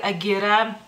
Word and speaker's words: gira: de uno, digamos así, y es Gira, que para ustedes pareciera que es gira, digamos así, se escribe igual, pero es Gira, y es una bebida